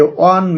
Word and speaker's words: one: এ অন stop service, A ওয়ান man party, etc. এখানে দেখো এ ওয়ান stop service, এ ওয়ান man party. এখানে যখন আমরা ওয়ানটা উচ্চারণ করতে যাচ্ছি তখন ওয়া এর মতো উচ্চারণটি আসতেছে, যদিও এই